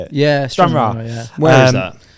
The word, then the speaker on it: Stranraer: Yeah, Stranraer.